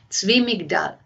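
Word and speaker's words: Zwi Migdal: It's spelled Z-W-I. The second word is M-I-G-D, as in David A-L. Zvi Migdal.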